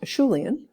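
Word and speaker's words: Acheulean: the Asha lien industry now you will see this word spelled with EA and at the end same or just different spelling and you also hear it pronounced Shu lien just a different pronunciation there same thing the distinctive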